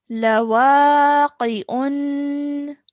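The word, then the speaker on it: لواقع: Now, if you want to take a pause, this dhammatain, as it did over here, turns into a sukoon. So our pronunciation changes to lawaqi'.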